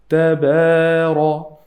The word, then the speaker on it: تبارك: The ta here is a light letter. I have to say tabara, and ra is heavy.